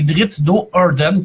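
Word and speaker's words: Drizzt Do'Urden: Et Drizzt d'O'Do'Urden, là, il faudra que je le prononce comme du monde, hein, parce que sinon, je vais avoir l'air de l'innocent. C'est Drizzt d'O'Urden, qui est un elfe noir dans le monde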